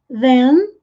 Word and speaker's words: then: Then, TH com som de Z, com a pontinha da língua presa entre os dentes.